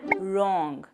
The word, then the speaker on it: wrong: And the next option is we use silent W like right, wrap, wrist and wrong. Here W is silent.